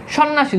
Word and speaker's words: সন্ন্যাসী: এখানে জফলার উচ্চারণ নাই সন্ন্যাসী যুক্ত ব্যঞ্জনের সাথে জফালা আছে এজন্য এখানে জফলার উচ্চারণ নাই দ্যাটস ইট এভাবে অসংখ্য